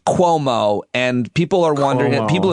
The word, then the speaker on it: Cuomo: did to you uh you pronounce the the last name como but it is cuomo and people are wondering